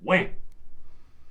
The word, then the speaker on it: Wham!: 1994, George Michael, former member of the 80s band or duo, Wham! You got to say it like that because they have an exclamation point.